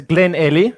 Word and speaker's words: Glenelly: It's Glenelly.